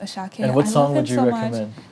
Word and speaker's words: Asake: uhhuh a s a k e but it's pronounced ashake definitely Terminator there lots of pigeon language in